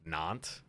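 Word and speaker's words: Nantes: n non it's just non non non non the British not non imagine know was pronounced not that's odd just the S is silent completely I could see the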